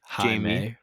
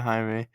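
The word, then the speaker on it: Jaime: to our main character jie no say it right gives it to Hae um and then he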